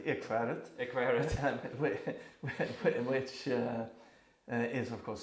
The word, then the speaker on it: Ekskäret: couple of years ago, and I hope I pronounce it correctly. It's called the Ekskäret Foundation. Yeah, that's correct. Ekskäret.